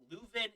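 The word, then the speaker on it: Leuven: about like it's like no that's luvin it's from flanders do not pronounce with a french accent okay actually was a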